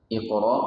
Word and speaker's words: Iqra: Di antaranya adalah kalimat Iqra. Iqra, qaf, adalah huruf qalqalah, sehingga ketika dibaca dipantulkan.